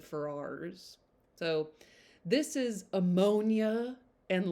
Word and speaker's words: Ferrars: I also think their name is pronounced Pharaohs, and I've always said Ferrars.